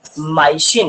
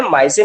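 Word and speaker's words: medicine: मेडिसिन को बोलते हैं माइसिन, क्या बोलते हैं बेटा? माइसिन बोलते हैं। क्या बोलते हैं? माइसिन बोलते हैं। मेडिसिन को बोलते हैं माइसिन।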